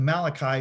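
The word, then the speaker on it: מלאך: The same name that you can see in the book of Malachi means Malach. The M, the L, and the K. They got a CH there, but it's really a K.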